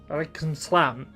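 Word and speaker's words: عليكم السلام: They said alaikum assalam, except it's like they compressed it into like 2 syllables. It was insane. It was like alaikum salam, alaikum salam.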